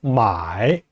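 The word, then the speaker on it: 买: 사다라고 할 때 마이, 물건을 사다란 뜻이에요. 요즘 인터넷에서 사죠. 예, 돈 붙이고 상품 배송받고. 마이, 마부터 이까지 끊기지 않고 한 번에 발음이 됩니다.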